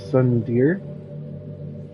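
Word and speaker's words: tsundere: Sunday Sun I actually never knew how to pronounce that word Sun Deer it's someone yep it's someone who tries to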